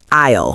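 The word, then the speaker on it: aisle: Take the word isle from our supermarket dialogue. It's spelled a i l e. But do we say the s? Absolutely not. The s is silent.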